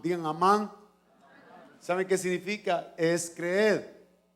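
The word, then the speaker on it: אמן: Ahorita vamos a aprender una palabra hebrea y se pronuncia amán. Digan amán.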